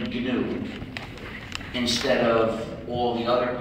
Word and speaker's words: GNU: the english language because according to the dictionary the g is silent and the word is pronounced new so every time you